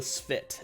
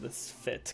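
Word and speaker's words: S'pht: one's atrocious i know it's called the sphit at least that's what i usually how i pronounce it this fit because ph makes a and the t and fit svit that's people get mad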